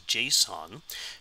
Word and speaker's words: JSON: this format right here called JSON which is pronounced as JSON which is an abbreviation